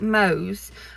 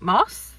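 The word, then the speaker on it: Mosse: thought it was kate mose but it's actually well the audiobook narrator pronounced it kate moss like the model um so yeah so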